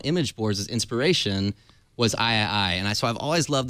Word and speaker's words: AIAIAI: AIAIAI.